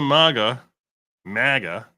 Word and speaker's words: MAGA: She wants to put MAGA. I prefer MAGA, not MAGA. MAGA sounds like it's spelled with an O.